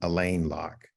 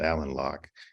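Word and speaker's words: Alain Locke: or is Ozzie Davis you pronounce this his first name Elaine Locke but I hear most Scholars pronounce it Alan Locke um and um Locke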